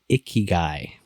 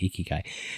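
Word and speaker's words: ikigai: far as Financial strategies go there's one called iy guy I hope I pronounce it right i k i g a i iy guy uh it's it's pretty woo woo and I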